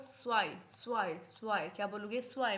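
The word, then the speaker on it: zwei: हैं ions one को बोलोगे आइंस टू को स्वाय स्वाय स्वाय क्या बोलोगे स्वाय मेरे साथ रिपीट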